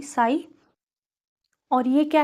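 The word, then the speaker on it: psi: के लिए डिफरेंशियल हैं लेकिन पी साइलेंट होता है यह है पी एस आई बोलते हैं पीएस आई साई और यह क्या है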